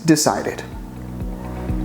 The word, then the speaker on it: decided: As you can see, the verb finishes in E, not D, but the pronunciation finishes in D, decide. So the correct pronunciation in past is decided.